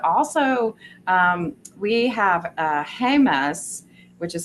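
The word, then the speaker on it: Jemez: highly recommend but also um we have a hus which is spelled j m z and that has natural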